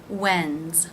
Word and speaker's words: when's: pronounced as a z when's when when is when's it over the apostrophe s can also mean does when does when's again pronounced as a z when's it end when